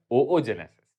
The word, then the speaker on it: oogenesis: today we'll learn about उ जेनेसिस which is also pronounced as ओओ जेनेसिस ठीक है तो देखो